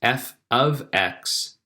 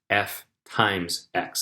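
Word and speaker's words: f(x): Remember that you say it like this. F ofx, not f* x. That's a dot there for multiplication. So it's not f bracket x like a multiplication. It's actually a notation f ofx.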